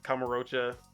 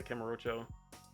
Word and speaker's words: Kamurocho: and just dropping into Kamurocha, or I forgot what it is. That how you say it? Yeah, I think it's Camarocho, but Yeah, Kamurocho.